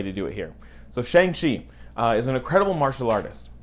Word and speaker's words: Shang-Chi: Now I want to start with the pronunciation of Shang-Chi. CHI is hotly debated as to the proper enunciation. Some people say it's Chi, Shi, Chai, Kai. There's a lot of variations. I'm going with Chi, Shang-Chi.